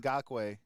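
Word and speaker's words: Ngakoue: They just got young Nakwe. Is that how you say his name is? Yeah, Yannick Ngakwe.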